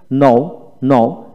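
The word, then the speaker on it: known: এর উচ্চারিত হবে না নোন নন এন ও ডব্লিউ এন নন এখানে কে উচ্চারিত হবে না নন নন তারপর আসেন এখানে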